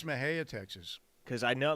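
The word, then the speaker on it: Mexia: It's Mahia, Texas.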